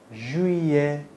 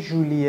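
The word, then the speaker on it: juillet: تو انگلیسی میگیم جولای ژوی ژ ژوی ژوی نگی ژولی ها ژه تو انگلیسی میگیم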